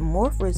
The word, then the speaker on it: Morphe: spray i don't know is it morphers and morphe because i feel like everybody says it a different way it's like morphe the bougie way to say it like how people